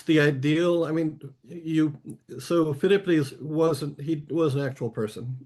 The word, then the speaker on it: Philippides: All right, I might say the name wrong, but Philippides, am I saying that right?